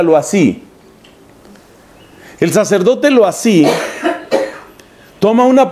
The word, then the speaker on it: Loisy: Su nombre es Loisy, y se pronuncia Loisy.